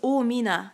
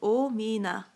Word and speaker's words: Amina: is Amina Oh simple my Korean name is Amina three syllables the traditional traditionally Koreans have three syllable names so yeah so Oh Mina that's mine ah all right